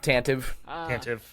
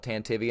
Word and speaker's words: Tantive: That's the way that I pronounced it growing up, and then I think I heard George one time call it Tantivy, and I was like, that's weird, that's cool, I'm stealing it.